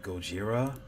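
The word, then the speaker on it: ゴジラ: Gojira. Yeah, the Japanese don't play when it comes to God. Like, well, I know the correct pronunciation would be Gojira, but they definitely don't play when it comes to that.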